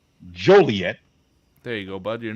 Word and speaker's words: Joliet: I had to go up to let me pronounce it correctly Joliet there you go Bud you're not going to